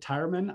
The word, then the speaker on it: Tireman: And for those of you who know Erin, I have called her Tireman for all these years. When I pronounce it Tireman, I'm saying it correctly. I just found out.